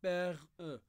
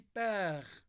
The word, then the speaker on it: père: dit pas sorcière ou bien on dit pas père e donc on dit père donc ça c'est une syllabe qui contient un miier donc on peut